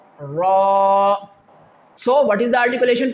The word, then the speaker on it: ر: During the recitation and during the pronunciation of the letter Ra, you have not to make it like R. Okay? Only Ra, Ra.